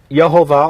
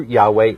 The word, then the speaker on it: Yahweh: the jewish encyclopedia now jehovah or jehovah a mispronunciation of the hebrew yahweh the name of elohim the pronunciation of jehovah or jehovah is grammatically impossible that's amazing which is